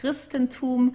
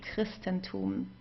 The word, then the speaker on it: Christentum: So here, for example, we have das Christentum, so we would pronounce it like a K in this case, Christentum, okay? So we don't say Christentum, especially if it's at the beginning. Here we would pronounce it as a K, Christentum.